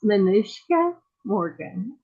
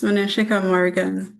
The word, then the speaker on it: Manishika Morgan: But I'm going to try to say her name, and I apologize if I butcher it, but it's Manushka Morgan. Say it the right way. It's okay, it's no problem. It's Manishika Morgan.